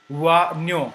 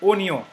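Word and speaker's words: oignon: it is not pronouns wo it is not pronounced as W but oo as I have written it in Hindi o even in English oo okay it is not wo but Ono so this is we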